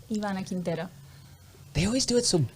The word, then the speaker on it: Ivana Quintero: guy in the red tie susan ebert and ivana quintiero sorry everybody i'm still working on my pronunciations how do you say how do you say your name ivana quintero they always do it so beautiful no i